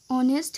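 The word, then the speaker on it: honest: যে সত্যের ইংরেজি অনেস্ট, এখানে যদি এইচের উচ্চারণটা ক্রস গিয়ে বাদ দিয়ে এখানে অনেস্ট ও এর উচ্চারণটা হয়, তার মানে এটা হচ্ছে একটা বাওয়েল সাউন্ড, আর বাওয়েল সাউন্ড হলে আমরা এন বসাবো, এন।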